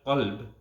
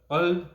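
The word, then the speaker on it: قلب: For example, the word qalb and the word kalb. It's a very fine difference in pronunciation. But qalb with a big qaf, it means heart, and kalb with a small kaf, it means dog.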